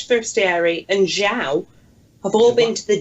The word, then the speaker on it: João: How come you can master the art of pronouncing Matias correctly, but still pronounce João wrong? João.